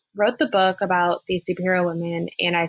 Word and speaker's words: SPRHRA: just for our audience too we've been saying superhero yes that named the brand and it's pronounced or it's spelled s p r h